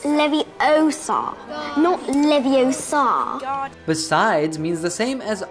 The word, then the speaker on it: Leviosa: someone's eye out besides you're saying it wrong it's leviosa besides means the same